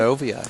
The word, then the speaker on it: Renovia: You're always coming up with some pretty cool things, and now you're introducing, is it Renovia? Is that how you say it? It's Renovia. You got that perfectly right.